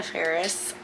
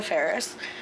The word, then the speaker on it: Faris: I've always pronounced her name Anna Faris. I am wrong. I apologize. Not that she's ever going to see this, but I do apologize. It's Anna Faris.